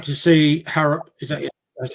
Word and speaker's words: Harrop: I'd like to see Harrop, that's how you say his name, start instead of Judge.